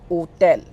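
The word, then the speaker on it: hôtel: And the second key point is that H is always silent in French language.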